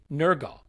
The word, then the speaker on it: Nørgaard: Tomorrow, though, over on Patreon, we will have a very special episode about Cristhian Nørgaard, is what I'm reliably told is how you pronounce that. Nørgaard.